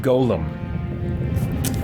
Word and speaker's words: golem: have a flesh Golem um but that is pronounced Golem and somewhere around this time this game obviously